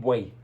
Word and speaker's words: buey: insulto era: eres un buey. pero no con G, como se usa ahora. Órale, güey, para todo México es güey. No, con la letra B, correctamente pronunciada.